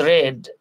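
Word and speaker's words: read: দেখতে পাচ্ছি শি হ্যাজ রেড শি হ্যাজ রেড আমরা জানি রিড পাস্ট ফর্মটা হচ্ছে রেড পাস্ট পার্টিসিপল হলো রেড এটার বানান একরকম হলেও উচ্চারণটা একটু different she হ্যাজ রেড আ 100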